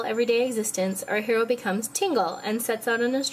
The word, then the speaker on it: Tingle: He's 35 years old, and he's single, and that character, pronounced in Japan as Tinkle, is Tingle.